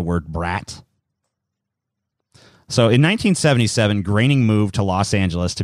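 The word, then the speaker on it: Groening: graining his name is spelt groaning but it's pronounced graining and at some point I'm probably gonna read it as groaning so here's his high school picture here and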